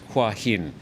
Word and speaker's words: Hua Hin: How do you pronounce Hua Hin? What do you say, Natty? Hua Hin. Hua Hin, Jay? Yeah, Hua Hin. Hua Hin. There you go. Hin. To Thai speakers. That's from the horse's mouth, as they say.